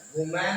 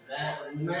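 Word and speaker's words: women: हमारा मैन हो गया वुमैन है यहाँ पर ध्यान से देखो बच्चों वुमैन है तो वीमेन हो गया ठीक है डोंट प्रोनाउंस इट वुमेन ठीक है वीमेन इसको हमेशा क्या प्रोनाउंस किया जाता है वीमेन प्रोनाउंस किया जाता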